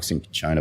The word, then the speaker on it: cinchona: Yeah, the pronunciation is a bit of a thing. So it can be cinchona bark, cinchona bark.